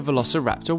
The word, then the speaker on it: Velociraptor: Velociraptor.